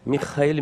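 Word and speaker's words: מיכאל: O nome, na verdade, ele vem do hebraico Michael, e tanto no grego quanto no hebraico a pronúncia é justamente esta, Michael, Michael.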